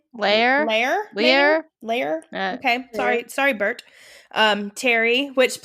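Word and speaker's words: Lahr: Lear.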